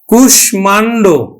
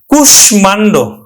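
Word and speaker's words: কুষ্মাণ্ড: কিন্তু খাটবে না অর্থাৎ সংস্কৃত থেকে সরাসরি যেগুলো বাংলায় এসেছে সেই শব্দগুলো কিন্তু সংস্কৃতের আচরণে কিন্তু উচ্চারণ হবে যেমন দেখো কুশমান্ড তাহলে আমরা এটা কিন্তু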